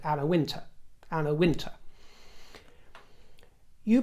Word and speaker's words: Wintour: certainly not society and there's nothing wrong if people want to pronounce it win or win either the dip thong or the monothong version is fine people do especially in